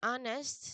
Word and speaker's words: honest: And then honest, still, silent letter H.